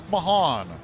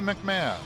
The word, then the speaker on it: Mahan: Deonte Mahan, not Deontay McMahon. Um last year, every year as the communications manager, I ask the guys pronunci for the pronunciation of their name just in case. Last year it was Deontay McMahon. This year he said Deontay Mahan.